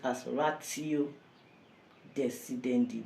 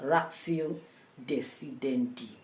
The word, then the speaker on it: ratio decidendi: Today we want to look at ratio decidendi. Ratio decidendi. You can also pronounce it as ratio decidendi, but it's better pronounced as ratio decidendi.